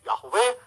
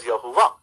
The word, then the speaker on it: Yahweh: Yahweh is a term for Yud-Heh-Vav-Heh, which many people pronounce like myself, Yahweh. Some of you pronounce as Yahuwah.